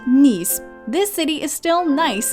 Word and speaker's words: Nice: looking up the city you'll probably assume it's nice based on the name alone while it's actually pronounced nice this city is still nice in every sense